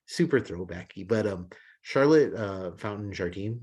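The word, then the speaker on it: Charlotte Fountain-Jardine: But Charlotte Fountain Jardine, is I believe how you pronounce her name.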